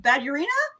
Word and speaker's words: Badurina: to pronounce your name before the show, David Badurina? I'm going to have you pronounce it backwards because of my screen and see if you can figure that one out.